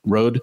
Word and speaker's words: Rode: Rode. Rode is how they pronounce it.